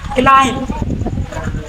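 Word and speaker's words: climb: सी एल आई एम बी यहां कहां पड़ी क्लाइम बी में एम के बाद है ना बी बी हो जाए साइलेंट तो का पढ़ ले यहां क्लाइम क्लाइम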